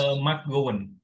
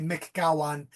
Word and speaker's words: McGowan: I had an uncle named McGowan because they mispronounced his name in New York when he came to America. They called him McGowan. So they pronounced that McGowan. McGowan. Yeah, but I'm McGowan is the original Gowan. So McGowan. So the correct one is McGowan.